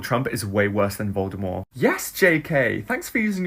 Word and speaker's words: Voldemort: did you know that Voldemort is pronounced without a te you're supposed to say Voldemort I think I'm the